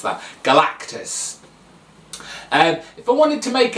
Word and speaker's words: Galactus: Okay, if I wanted to go kind of like all out, I would pick either Doctor Strange or Galactus, sorry. I always mispronounce that. Galactus.